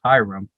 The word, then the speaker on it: ihram: And what the white cloth that we wear is called the ihram, or if you sound it out phonetically, it's hiram.